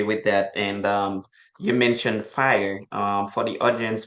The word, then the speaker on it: FHIR: And you mentioned FIRE. For the audience, FIRE is FHIR. That's how it's spelled, but it's just an extension of what you call HL7, which deals with interoperability.